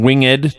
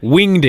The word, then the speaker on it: winged: I like because he actually put the hyphen in winged to make sure I pronounce it as 2 syllables. Thank you. That's the way it should be pronounced. Well, that's it's not the winged eagle.